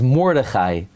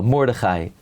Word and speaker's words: Mordechai: Yeah, but the stam, many people say his name is Mordechai. There's no such individual, Mordechai. It's Mordechai HaTzadik.